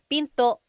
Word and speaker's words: pinto: Tagalog is pin pin and remember don't forget the gladle stop don't forget to stop the sound at the end that's called gladle stop Pinto Pinto it's not Pinto